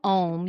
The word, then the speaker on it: Om: Three parallel lines spelling out the syllables AUM, which you might know as Om.